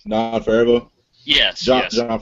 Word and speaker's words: Favreau: Fairview. How do you say his last name? John Favreau. Yes, John Favreau.